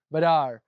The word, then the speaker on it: Badar: How do you pronounce Pascal's last name? Badar. Pascal Badar is uh is a wonderful forager here in Southern California.